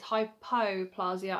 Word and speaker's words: hypoplasia: It's hypoplasia and not hyperplasia, because when I googled it,